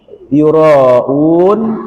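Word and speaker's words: يراءون: Alladzina hum yura'un.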